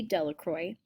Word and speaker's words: Delacroix: harry jones and dickie delacroix the villagers pronounced his name de la croix eventually made a great